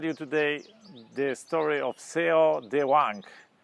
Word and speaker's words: Cao Dewang: today the story of se de wank in Chinese in Mandarin pronunciation chak Wang so Wang grew up